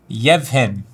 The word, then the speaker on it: Yevhen: This is, how do you say, is it Jin? I don't know. Jin Kostic? Yevhen. Yevhen Kostic?